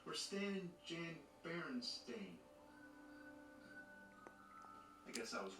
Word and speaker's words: Berenstain: Actually, the most likely pronunciation would be Berenstain, since it was spelled the same way like Frankenstein. But everybody I ever met says Berenstain.